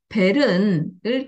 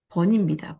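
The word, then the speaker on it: Berne: 굉장히 대표적인 게슈탈트 학자인데 지금 베른을 교류 분석에 적어놨습니다. 베른이라는 학자가 누구지? 네, 이걸 베른이라고 읽은 겁니다. 번입니다. 번. 에릭 번을 이렇게 써놓은 겁니다.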